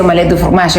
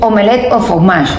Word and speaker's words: omelette au fromage: Y resulta que lo cómico de esto es que no se dice omelette du fromage, es una forma incorrecta de decir omelette au fromage. O sea, el du o